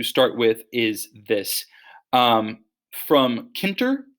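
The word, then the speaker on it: Tkinter: From Kinter, the T is silent, um, import, and the star just means everything.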